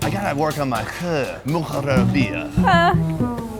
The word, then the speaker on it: Moghrabieh: MOGHRABIEH. I gotta work on my MOGHRABIEH.